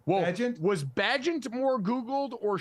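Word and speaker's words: Bagent: had to stun everybody Tyson bant I believe is how you say it bent was bent more Googled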